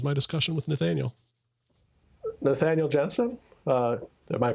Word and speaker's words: Jeanson: discussion with nathaniel nathaniel jensen uh am i pronouncing that right genesis we say jeans and just because it's spelled like blue jeans but i respond to